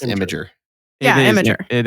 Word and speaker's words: Imgur: Because I always thought it would be imager, but the more I looked at it, throughout my experience on the internet, it looks like Imgur. That's how I always pronounced it, but it's supposed to be imager.